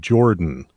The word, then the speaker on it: Jorphdan: But there's another YouTuber called Jordan, and it's spelled JORPHDAN. The PH is silent.